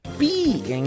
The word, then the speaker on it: pi: Porque pi em inglês se pronuncia pie e é igual a torta.